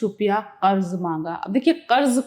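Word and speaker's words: قرض: भरोसा था कुछ रुपया कर्ज मांगा अब देखिए कर्ज का तलफ्फुज कर्ज मगर सबने टका सा जवाब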